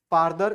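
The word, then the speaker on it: further: तो इसको फारदर बोलेंगे और इसका सुपरलेटिव को फदेस्ट बोलेंगे।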